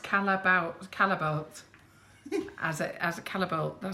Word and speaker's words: Callebaut: remove any hot spots I was right it's pronounced Callebaut caliber as a callable them so I said